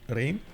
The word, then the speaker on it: Reims: I think it's pronounced Rame, no? Rain, is it? Rain? Okay. Rain. Well, I guess it is without the S.